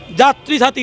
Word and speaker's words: যাত্রী সাথী: যে ক্যাবের নাম ইয়াত্রী সাথী কেন ওয়াই দিয়ে উচ্চারণ তো আমাদের হয় না যাত্রী সাথী যে দিয়ে হবে অ্যাপের নাম হবে যাত্রী সাথী